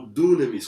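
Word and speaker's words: δύναμις: Uma delas é exousia e a outra é dynamis, ou dunamis, como alguns pronunciam.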